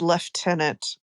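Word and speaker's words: lieutenant: Pronunciation is left tenant. Yeah. I'm trying to figure out where the F is in left tenant. you know, where is that F?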